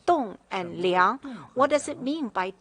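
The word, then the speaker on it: 栋梁: mean by you know in chinese it pronounced as tong and liang what does it mean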